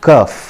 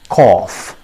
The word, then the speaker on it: cough: kerf see the difference it is not curve it is cough see the phonetic transcription that is written here it also clearly says that it is pronounced as cough so friends try to